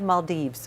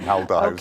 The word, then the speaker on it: Maldives: saw firsthand in that I've heard people pronounce it Maldive Maldives what it depends on what sort of what side of the pond you come from right Maldives malds either way is correct but there you're seeing